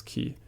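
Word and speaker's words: Qi: Chi attack key attacks it's not Chi right it's key even though it's WR Q why I I think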